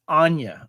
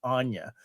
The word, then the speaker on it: Anya: of stuff she's done just to clarify too it's Anya I have been that's right I I have been mispronouncing her name for quite a while it's Ana yeah dude I'm I'm kind